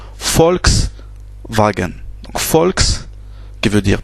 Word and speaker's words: Volkswagen: Donc le U se prononce ou le V en allemand se prononce F. Donc ici ça se prononce FAO. C'est un FAO. Par exemple, la marque de voiture Volkswagen, ça ça se prononce Volkswagen.